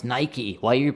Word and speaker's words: Nike: topic for today is Nike's TV commercial. Not TV, sorry. Nike's commercial. Yeah. And then, first of all, you pronounce the word Nike? Nike. No, Nike. Nike, yeah. Very interesting. So only in England.